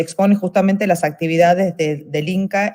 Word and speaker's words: INCCAF: Y fundó el INCCAF, que no sé si esa sigla se pronuncia de alguna forma o se deletrea. INCA.